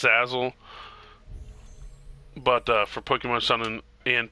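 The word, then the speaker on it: Salazzle: It's spelled S-A-L-A-Z-Z-L-E. I think it's pronounced Sazzle, but for Pokemon Sun and Pokemon Moon.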